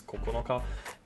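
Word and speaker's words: 九日: separate pronunciations of this wants to pronounce this is QB so bad like I remember I wanted that to be the case but no this is Coco naka and it means or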